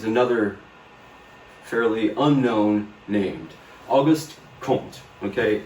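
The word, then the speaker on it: Comte: And that's the only way that's the only time I'm going to call him K. Okay. That's the French pronunciation. I don't know if you've noticed I'm not French. I'm I'm Texan. Okay. So I speak like a Texan.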